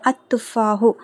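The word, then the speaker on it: التفاح: சோ அத்துபாஹு லதிதுன் அப்படின்னா அந்த ஆப்பில் சுவையானது அத்துபாஹு தா வந்து ஷம்சியோட எழுத்து அப்ப லாம் உச்சரிக்கப்படக்கூடாது அத்துஹு லததுன் சரிங்களா சோ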